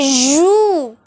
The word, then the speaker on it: joue: The pronunciation sounds like shoe, shoe, but the spelling starts with J, not S and H.